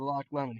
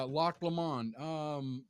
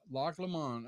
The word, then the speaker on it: Loch Lomond: asked old fashioned about the Loch Lemon. He said he's never heard of it. Yeah, Loch Lomond. Loch It's Lamont. Loch Lemon. yeah, Loch Lomond.